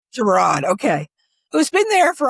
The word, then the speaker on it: Girod: Is it Doug Giroud? Is that how you say his name? It's Doug Girod. Girod, okay.